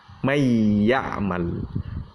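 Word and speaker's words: مَنْ يَعْمَلْ: Kalau kita baca man, berarti kan idhar, nunnya dijelaskan. Sekarang bertemu dengan ya, maka diidghamkan, dimasukkan. Nun sukunnya tadi dimasukkan ke dalam huruf ya, ya. Berarti bacanya mayyamal. Mayyamal.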